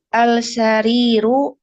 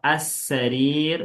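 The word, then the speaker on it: السرير: Al-sariru al-baitu. Baik, naqra as-sarir wala naqra al-sarir. As-sariru al-baitu.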